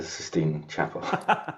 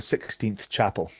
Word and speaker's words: Sistine Chapel: occasions forgotten about the Sistine Chapel. Here's one. Remember we were doing something about mispronunciations. Do you know that the amount of people that think that that's called the 16th Chapel?